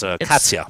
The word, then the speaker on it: Kat: Her name is Kat, K-A-T. Like cat, but cat, pronounced Katya. Like Katya. Like Katya. And yes, K-A-T.